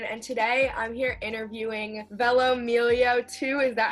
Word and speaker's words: velomelio2: guys it's lauren and today i'm here interviewing velomillio2 is that how you pronounce it yeah this is a group account